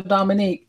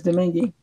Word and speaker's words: Domingue: They'll say Dominique, and my last name is Domingue, but I never expect anybody to get it right because it's confusing.